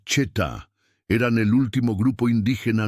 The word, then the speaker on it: Shetá: Los Shetá, se pronuncia Cheta, eran el último grupo indígena nómada del sur de España.